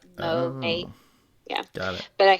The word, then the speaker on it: Monat: So it stands for modern nature. So like Monat.